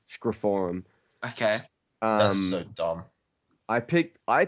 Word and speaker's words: Scream 4: with um Square Forum because that's how Scream 4 is meant to be pronounced is screiform okay um I picked